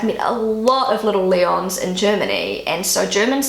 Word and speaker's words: Leon: three is Leon and in German they pronounce it Leon and Leon um it's it's a